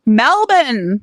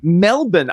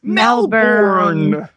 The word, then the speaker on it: Melbourne: Melbourne. Melbourne. I'm going to spell that for those of you who are not in Australia. It's Melbourne. Many of us might have pronounced it as Melbourne.